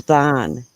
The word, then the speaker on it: Vaughn: But that's Vaughn. Scarab. That Yeah. That's not that's pronounced like lawn. It rhymes with lawn.